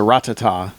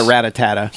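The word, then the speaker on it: Rattata: able to tell me it's a ratata not a ratatata yes ratatata children mispronouncing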